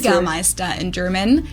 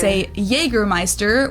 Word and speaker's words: Jägermeister: This is pronounced Oh, Jägermeister. Jägermeister in German. Jägermeister. English speakers usually Jäger. say Jägermeister, which is pretty much the same, just with a pretty thick accent.